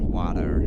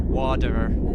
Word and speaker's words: water: That's how Americans say water. Water. If you listen to I think, is it California Girls? Yeah, California Girls by Katy Perry and I think Snoop Dogg. If you listen to that, she very definitely says water. Spelled with a D, water.